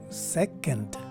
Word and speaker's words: second: at its phonetic spelling you will see that the stress here is in the first syllable and the letter o is now a swa sounding vowel see that upside down letter e that is the swast sign which indicates that a vowel is neutral and sounds like ah so with a phonetic spelling as our guide this word is pronounced as second and if i were